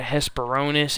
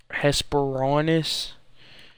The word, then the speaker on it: Hesperornis: did spell it wrong it's not a hiss Bironas it's a Hesper on hesperornis there's an extra all right here hesperornis